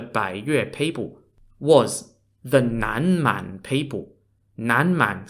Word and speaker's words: Nanman: had for the bay your people was the Nan man people nanman spelled n-a-n-m-a-n which literally means Southern